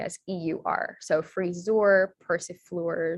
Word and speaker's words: persifleur: Yeah, the EUR words are, it's pronounced freezer, persifleur, jongleur.